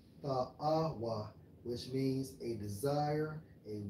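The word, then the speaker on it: תַּאֲוָה: When you go into that term, bro, for pleasant, it's Strong's H8378, pronounced as Ta'awa. Ta'awa, which means a desire, a wish, a longings of one's mind.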